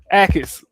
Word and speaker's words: Jacobs: Akis. It's the J be throwing me off, man. The J is silent.